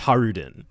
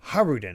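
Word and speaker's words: Hajrudin: probably uh so I I think the J is silent I I'm gonna check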